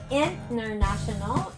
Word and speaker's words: international: contests in the world so international is on the third level while universe is on the first syllable so again international and international okay it's not international that will you'll be stressing out on the second not also on the international not international on the fourth that's wrong and not also